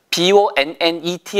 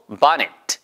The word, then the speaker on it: bonnet: 어쨌든 B-O-N-N-E-T 할 때 중요한 거 그거 외우실 필요는 없어요. 본네트라고 하면 절대 못 알아들어요. 그래서 이런 것들도 bonnet 아니면 bonnet 이런 식으로 영국식 발음이면 bonnet가 되겠죠.